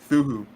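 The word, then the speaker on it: Cthulhu: Pat myself on a see a silence thulu THU oh the sea silent yeah Merry machine gun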